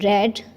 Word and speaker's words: read: है साइड पे कि read is pronounced differently in the past tense and the participle but is spelled the same.